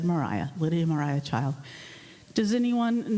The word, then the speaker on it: Maria: notice right away that her first name is spelled her middle name spelled in a way that most people would say Maria but she said Mariah Lydia Mariah child does